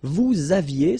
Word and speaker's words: vous aviez: Vous aviez, same thing here, a little liaison.